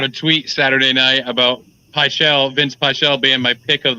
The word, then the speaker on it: Vinc: But elsewhere on the fight card, how do you say it? Vince Pichel, or is it Vink Pichel? Vince, yeah. Yeah, Vince.